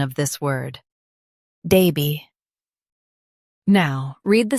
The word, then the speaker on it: Derby: Daby. Now, read the syllables of British pronunciation shown on the screen naturally. Da. Bee. Daby. Da. Bee. Daby. In US, stress der. In UK, stress da. Derby. Daby.